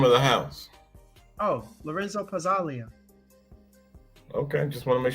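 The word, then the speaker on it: Pazzaglia: Oh, Lorenzo Pazzalia.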